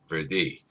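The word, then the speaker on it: würdig: We did some research and found a German word that is spelled W-R-D-I-G, and it's pronounced the same, Verdi.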